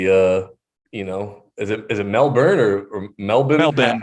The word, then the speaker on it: Melbourne: Melbourne. How do you pronounce Melbourne?